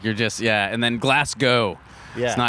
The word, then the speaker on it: Glasgow: Like you're just yeah and then Glasgow. Yeah. It's not It's not Glasgow, it's Glasgow. Glasgow. Like you're going there.